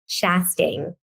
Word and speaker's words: Chastang: She serves as the digital marketing director for Texas-based Chastang.